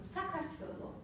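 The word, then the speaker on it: საქართველო: The stress in Georgian falls on the first syllable. For example, Sakartvelo, universiteti, studenti, lektori.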